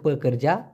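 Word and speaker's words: pekerja: শ্রমিক, শ্রমিককে দুইভাবে বলা যেতে পারে, একটা হচ্ছে পেকরজা, প কর যা, উচ্চারণটা হবে প কর যা, অথবা কুলি বলতে পারেন।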